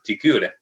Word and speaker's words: Trichuris: Entonces el trichuris, trichura, que uno igual lo menciona, debería nombrarse correctamente como trichuris, tricura, ¿ya? Porque esa CH no existe.